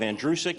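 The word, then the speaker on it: Andrucyk: is in reality uh my last name is pronounced like the boy's name andrew who is sick you run it together you have andrew sick it's that simple it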